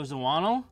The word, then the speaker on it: Zawinul: Joe Zawinul.